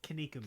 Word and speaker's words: Kinnikuman: Do you pronounce it Kinnikuman or Kinnikuman? It's Kinnikuman.